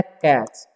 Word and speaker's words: catch: और CATCH, ठीक है, तो इसे हम लोग पढ़ते हैं कैच, ठीक है। TCH जहाँ भी रहे तो उसका उच्चारण च हो जाता है, ठीक है।